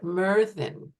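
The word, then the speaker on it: Myrddin: didn't want to do that to you so Merin is how it's pronounced and meran is um the Welsh um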